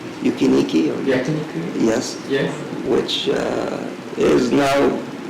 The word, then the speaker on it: yakiniku: We've tried yukinaki, if I pronounce it right. Yukiniki. Yakiniku?